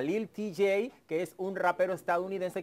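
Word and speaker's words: Lil Tjay: Lil t Lil Lil tj así se se pronuncia Lil tj que es un rapero estadounidense que ahí lo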